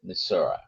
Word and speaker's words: Missouri: Uh, for Pix Fly Farm from Missouri or Missouri, depending how you pronounce it, they're both the many of the locals call it Misura.